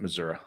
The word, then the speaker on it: Missouri: yes it is missouri it's an a at the end of missouri so if you're from the midwest you pronounce it missouri all righty what else